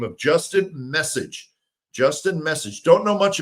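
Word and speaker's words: Meccage: new pitching coach by the name of Justin Message.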